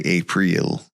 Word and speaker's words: April: They say Apriel, but it's just it's spelled April.